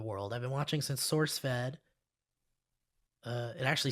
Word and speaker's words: SourceFed: say it wrong because it's actually source fed not sork fed sauerk sword fed when